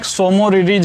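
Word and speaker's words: Tso Moriri: बात दूसरा ये इसमें सोमो रिलीज हिल है इसकी जो स्पेलिंग होती है वो ऐसे है मोदी जी तो देखिए इसमें टी जो है साइलेंट होता है यह तो इससे आप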